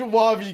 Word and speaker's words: Wahvey: Yeah, no, but I was saying, I was like, it's Wahvey, guys, bro. Say Wahvey. That no one did. So I'm just like, all right, I'm done with this, and I changed the pronounce. I just said, all right, it's Wavy now, and That's I even funny.